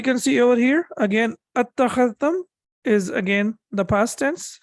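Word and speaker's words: أتخذتم: So we can see over here, again, attakhadhtum is again the past tense. So it was basically ittakhadhtum, but again, we have to connect it and we have to recite it like this.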